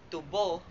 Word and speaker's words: tubo: tamang bigkas nito ay tubo. Tubo wala itong diin ngunit nilalapatan ito ng h sa ikalawang pantig upang mas humaba ang bigkas nito.